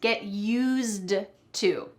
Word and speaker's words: used to: get use to something well I said use but there's actually a d at the end of that word get used to but we don't say the D but make